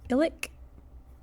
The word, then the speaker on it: ilik: So the missing word was ilik. With that clicky K at the end.